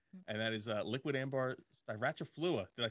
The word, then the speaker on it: styraciflua: And that is liquid ambar styraciflua. Did I say it right? Styraciflua.